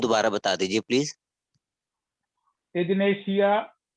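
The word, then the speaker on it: Ignatia: इग्नेशिया है IGNITIA, इग्नेशिया या इग्नेटिया कहिए आप उसको, ठीक है, इग्नेशिया उच्चारण है उसका।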